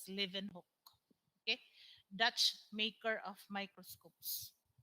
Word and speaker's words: Leeuwenhoek: spelled as liv or that is pronounced as living hook okay dutch maker of